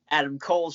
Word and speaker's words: Adam Cole: that I am wearing Adam Cole's shirt there, too, so I... Wait. You didn't say it right. It's Adam Cole.